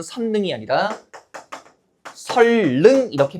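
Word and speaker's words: 선릉: 선능이 아니에요. 뭐라고 발음하죠? 설능이죠. 우리 표준 발음법에 따르면 니은과 리은이 만나면 비음화가 아니라 뭐가 일어나요? 유음화가 일어나요. 그래서 맞는 표준 발음은 선능이 아니라 설능 이렇게 발음하는 거.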